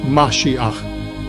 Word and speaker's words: Mashiach: The accurate word found in the original Yeshua Testament is Mashiach, pronounced Mashiach, meaning anointed one, a person chosen by God for a divine mission, and Yeshua himself confirms this.